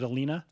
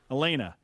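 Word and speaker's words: Alena: saying her name wrong is it alina elena elena okay with an e yeah a-l-e-n-a yeah okay elena uh at some point i'm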